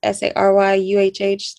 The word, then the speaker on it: Saryah: My personal Instagram is SARYAH, SARYUHH. That is not how you spell my name, just how you pronounce it.